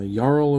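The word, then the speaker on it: jarl: seen ever but uh yarl of the forsaken which yeah in kolheim as well as other like nordic cultures i imagine most of the j's we see are supposed to be pronounced like wise so yarl of the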